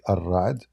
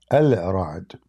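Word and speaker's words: الرعد: By the way, here when they type it in for you, this is not accurate. Like, I mean, when they say Ar-Ra'd, they are just saying it how they pronounce it, but it's not correct. Al-Ra'd.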